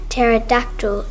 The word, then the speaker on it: pterodactyl: And then he said, "Because in pterodactyl the P is silent."